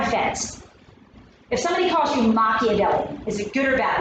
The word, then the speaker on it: Machiavelli: How to pronounce it? Machiavelli? Machiavelli. That's right, Machiavelli.